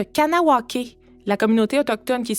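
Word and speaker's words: Kahnawake: Conawaga est l'ancienne prononciation de Kanawake, la communauté autochtone qui est située sur la rive sud de Montréal.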